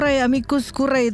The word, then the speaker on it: amicus curiae: Di pekan ini lagi rame di media lah kebanyakan tuh ngomongin amicus curiae itu loh, yang tulisannya amicus curiae itu.